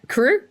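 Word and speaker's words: KRÜ: In the B tier list, I'm going to put Team Anivus and Vision Strikers and I don't know how to pronounce, but Kiar Esports. Yeah, crew.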